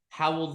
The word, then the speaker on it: Hywel Dda: 10th centuries, and most notably King Hywel Dda, Howell the Good.